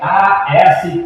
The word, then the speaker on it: Astarte: E também se pronuncia A-S-T-A-R-T-E, Astarte.